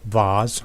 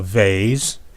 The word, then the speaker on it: vase: is important okay now i happen to like vaz or vays depends on your pronunciation because they're small they're portable i can